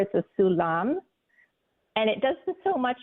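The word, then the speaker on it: סולם: of fireman's ladder yeah and that's called a sulam s u l mam yes aulam so um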